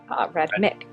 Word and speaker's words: Radmic: Radmick. Not that Gragnold knows how to spell it.